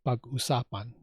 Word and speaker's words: pag-usapan: that in most cases, the accent is on every other syllable.